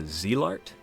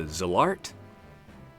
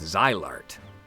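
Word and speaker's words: Zilart: One might argue, if you came up to me and said, Rise of the Zillart, or Rise of the Zillart, probably wouldn't bat an eye. I'd keep on trucking. I'd live my life. Now, if you're gonna come at me with Zylart, I'm gonna ask, now where'd you come up with that, buckaroo?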